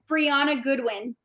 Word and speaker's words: Breanna Goodwin: Pronounce your name for me so I say it properly. Breanna Goodwin.